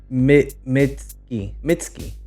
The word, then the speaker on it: Mitski: I'm saying the name right what is it mitsky yeah I said it right so this is